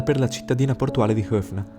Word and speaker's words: Höfn: la cittadina portuale di Höfn, che in realtà si pronuncia Höp, e che dista 3